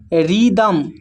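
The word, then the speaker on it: rhythm: फिर है रिदमम। रिदमम में भी एच साइलेंट है।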